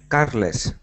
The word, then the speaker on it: Carlos: Carless. Carless. It's like carless. Okay. Yeah. Yep. Carless. Someone who don't have the car. Yep. So, carless. Carlos.